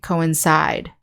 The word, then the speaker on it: coincide: verb however we say coincide so the stress is on the last syllable and we get